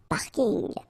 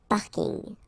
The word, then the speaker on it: parking: parking as well so I know it's coming from English but still you should pronounce it the French way parking the parking okay and the last